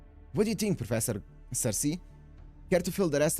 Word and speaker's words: Circe: S Kirki seems to be a completely different kind of witch from media. Cersei is the English pronunciation. Oh, is it? Oh, then I'm going to use that if that's the English pronunciation of it cuz it sounds so much better.